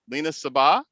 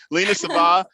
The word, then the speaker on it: Lina Sabbah: Lina Sabbah. Did I say it right the second time? Yeah, you did. You got it. I finally got it. Lina Sabbah, who is a regional sales associate in sales